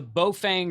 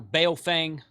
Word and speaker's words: Baofeng: This is the Baofeng or Baofeng, I think is how you say it, supposed to be.